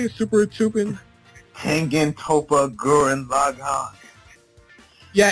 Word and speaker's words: Tengen Toppa Gurren Lagann: Tengen Toppa Gurren Lagann.